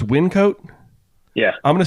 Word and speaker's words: Wyncote: a place in Pennsylvania that I probably can't pronounce the name of. I say Wyncote. Wyncote.